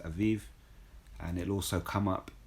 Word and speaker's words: Abib: it's the month of abib it says here abib but it's pronounced aiv and it'll also come up in the scriptures